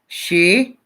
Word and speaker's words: Shivi: So it's almost like. Shivi. Wee. Shivi. Oh, do I love it when you guys really spell it out for me. It really helps. Because you may say it Shivi, and I might say it.